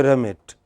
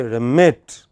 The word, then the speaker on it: remit: See, it is very important as far as English accent is concerned that the stressed syllable stands apart clearly from other syllables. So don't say remit, just say remit.